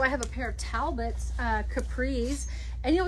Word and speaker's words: Talbots: this is from the uh simply flattering collection by talbots or taobots as i've heard the kids say which cracks me up because that's not how you say it um so there's the